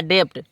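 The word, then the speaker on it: debt: रहा है बी तो बी क्या हो जाएगा बी साइलेंट हो जाता है इसको हम वस्तो पढ़ने में आता है डेप्ट क्या पढ़ने में आता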